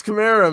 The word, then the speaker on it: Kamara: It's Kamara, man. It is okay. 90% of everybody says Kamara. I think every once in a while, an announcer might say Kamara.